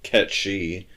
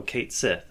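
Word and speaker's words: Cait Sith: I think happened is whoever the the casting person or the the director of like the voice cast just read it and said oh Kate Sith okay so here's how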